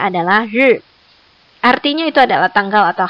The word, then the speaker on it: 日: Satu lagi bacanya adalah ri.